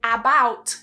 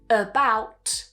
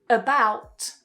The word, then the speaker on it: about: However, in English, what we would do is we would weaken it because it's not a strong syllable. So, it will be pronounced as about about.